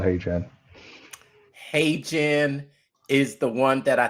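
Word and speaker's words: HeyGen: Now you might say hey Jen, it's spelled H E Y Gen. Hey Jen.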